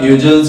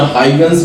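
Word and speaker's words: Huygens: Scientist मैदान में आए जिनका नाम था ह्यूजेंस, या हाइगन्स भी कुछ पढ़ते हैं इनको, कुछ ह्यूजेंस पढ़ते हैं। ठीक है। हर बंदे ने अपना अपना नाम इसकी प्रोनाउंसिएशन की हुई है। हाइगन्स भी पढ़ते हैं इसको, ह्यूजेंस भी पढ़ते हैं।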